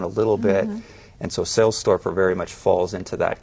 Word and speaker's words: Sailstorfer: Is that how you Michael pronounce it? Sailstorfer, yeah.